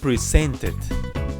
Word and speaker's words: presented: chatted the next one is present great presented presented presented the next one is end and